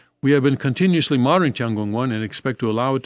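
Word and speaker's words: 天宮: Tian is the word for heaven. Yeah, heaven. And in the Korean pronunciation, that is a chun. And palace, of course, is in Korean is kung. So this is a chun kung.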